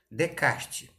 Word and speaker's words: Descartes: Descartes é aquele que a gente escreve Descartes. Lembra, meninos? Descartes. é a pronúncia correta.